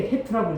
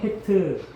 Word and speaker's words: 헤트: 이게 이제 8번째인데 읽을 때 해트라고 읽어요. 해트 쓰는 거는 이렇게 쓰고 해트라고 읽어요.